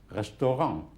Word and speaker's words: restaurant: ENT and ANT is pronounced ang at the end. Like restaurant would be restaurant.